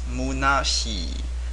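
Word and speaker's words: 空し: Another pronunciation, kun pronunciation of this character, same character, is munashi.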